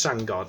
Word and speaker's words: Sandgaard: So, hang on, I'm just trying to see how you pronounce his name. Yes, yeah, Thomas Sandgaard.